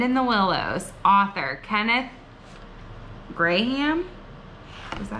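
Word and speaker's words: Grahame: Author, Kenneth Graham? Is that how you say it? Yeah. Graham.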